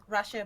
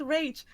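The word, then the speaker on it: Rache Bartmoss: It's funny because I was used to call him Rashe Bartmoss, and I long ago before I learned that before I heard Mike Pondsmith say his name, that's why I said, he's called Rage.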